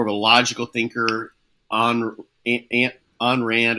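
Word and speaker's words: Ayn Rand: a logical thinker an an Rand I think is how you say your name an Rand an Rand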